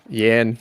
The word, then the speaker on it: Jan: my answers i swear to god does it rhyme with band okay we're good yan yan yan blhovich i'm giving it to yom